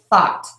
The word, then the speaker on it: though: the F sound so I will hear people say fo not though fo not though and so the mistake here is that people um again you're not touching your teeth with your tongue but